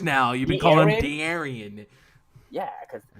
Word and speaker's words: De'Aaron: The Aryan Fox. Okay. That's not how you say it. That's not how you say it. But that's De'Aaron Fox or De'Aaron Fox? It's De'Aaron.